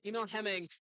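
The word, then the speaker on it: Emil Hemming: So, uh, Liam with that question and that is Emil Heming is how you pronounce it.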